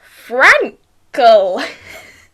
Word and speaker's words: Frankel: My guest today is Andrew Frankel.